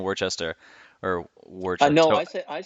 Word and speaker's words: Worcester: Worcester? So I keep saying Hmm. Worcester because that's like out, but you keep saying Worcester or Worcester.